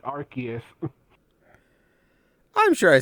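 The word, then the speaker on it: Arceus: bad oh I'm sure I say like I say arus and Silver's like no it's archus I'm sure I say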